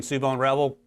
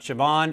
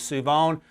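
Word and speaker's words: Shavon Revel: Shout out to Josh for pronouncing Suvon Revel correctly. Make a note. It is not Siobhan. It is Suvon.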